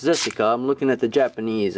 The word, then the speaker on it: Zessica: and it is pronounced zessica I'm looking at the Japanese and it says zessica so hey it's with the Z all right so nice